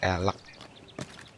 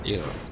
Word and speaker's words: elk: El elek elek tulisannya elek bacanya il.